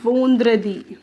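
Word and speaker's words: vendredi: Friday को हम कहते हैं वोंद्रदी। क्या कहते हैं? वोंद्रदी, द्रदी, आई होप सो, ठीक है। आप अपने अकॉर्डिंग प्रोनाउंसिएशन लिखिए, हिंदी में, इंग्लिश में, जैसे भी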